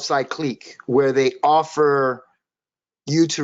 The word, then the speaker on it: Cycliq: great idea um did you did you say cyclin it's pronounced cyclique with a q at the end c-y-c-l-i-q-u-e uh